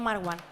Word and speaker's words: Marwan: que el pobre No Mar One que ha tenido por eso es mar One que el pobre ha tenido que poner una tilde en su nombre para que lo intentemos pronunciar bien y eso que que